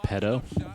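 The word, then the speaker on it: Pidto: Hey, it's MSG Network's Bill Pito. It's pronounced pedo.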